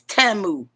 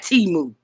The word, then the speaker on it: Temu: It is Tamu or Tamu because I was listening to an ad round yonder and they said it, and it's Tamu is not Timu.